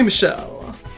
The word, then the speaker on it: Michel: Call me Michelle. Michael. Yes, Michel. Please note that he's written as Michelle there. I was gonna say, I have no idea how you pronounce his name, but Michel. his last name is.